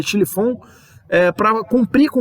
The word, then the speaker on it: Schlieffen: O Império Alemão, além disso, para cumprir com esse plano, que é o plano Schlieffen, né? Se escreve Schlieffen, mas se lê Schlieffen, para cumprir com o plano Schlieffen, a Alemanha invadiu a Bélgica para poder invadir a França.